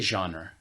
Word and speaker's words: genre: to analyze it yeah genre I say genre oh you were with Joseph yeah okay because I know that it's French gotcha so genre I